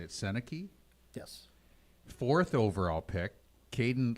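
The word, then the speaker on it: Sennecke: overall pick Beckett how do you say it seneki yes fourth overall pick Kaden Lidstrom now he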